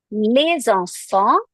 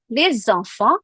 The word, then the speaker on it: les enfants: Here we are pronouncing it as les because we had a liaison rule. We had a next word is a vowel. So we have to pronounce the last letter.